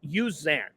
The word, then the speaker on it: Uzan: But let's get the name right, Milos Uzan. Uzan? They do use the U. It's in the pronunciation guide, and I heard Fran Fraschilla My bring it up on apologies.